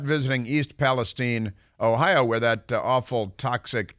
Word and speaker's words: East Palestine: He called it East Palestine, which is no place. But East Palestine is in Ohio, and he still hasn't been there.